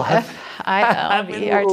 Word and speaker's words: Filbert: is it Filbert spelled with an F? F, yeah. Oh, F-I-L-B-E-R-T, literally Filbert. it's Phil. You were thinking like Phil? Yeah, like okay, Philip.